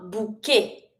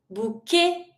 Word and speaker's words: bouquet: And really do emphasize the G sound, but don't pronounce the final e. Bag. A bucket. A bouquet. Bouquet.